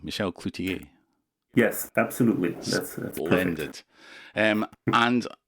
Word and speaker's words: Michel Cloutier: I probably don't need to say that because I'm pronouncing your name correctly, Michel Cloutier.